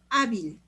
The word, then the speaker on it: Hábil: Pero tenemos, por ejemplo, hábil. Hábil. Se acentúa la A, es la penúltima sílaba y como termina en L, sí se le pone tilde.